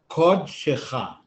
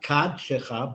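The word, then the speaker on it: קָדְשְׁךָ: You know that the kamatz underneath sometimes is pronounced aw, like kodshecha, not kadshecha, but kodshecha.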